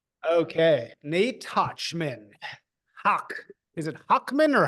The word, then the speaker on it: Hochman: But Americans say Hawkman, so I'm an American, so I say Hawkman. Oh, so it is Hochman according to the No, Germans. it's like Hawk, like with like your back of your throat, but like Ah, talk like that.